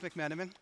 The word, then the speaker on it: McMenamin: connection today so again my name is mcmenamin pronounced mcmenamin thank you for the opportunity to try I